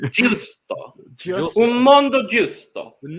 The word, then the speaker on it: giusto: I said something like gusto or something. No, it's giusto.